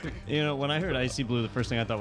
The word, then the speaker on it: ICYBLU: Icy Blue. That's spelled ICYBLU. Icy Blue.